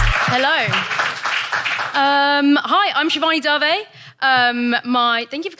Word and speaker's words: Dave: pisses me off so it's darvey spelt dav pronounced darvey do you want to